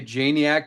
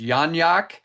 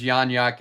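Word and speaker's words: Janiak: I will not be changing the way I say Janiac, but in a message to her, she said she is part Polish and the proper way to pronounce her last name is Yanyak.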